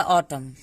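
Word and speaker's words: autumn: जब भी एम और एन एक साथ आएगा तो वहां पे एन साइलेंट हो जाता है, एम तक ही हम उच्चारण करते हैं। इसका होगा हाइम। इसका होगा ऑटम।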